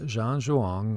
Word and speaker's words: Zhan Zhuang: And so this method is called Zhan Zhuang, which is pronounced like it's a J.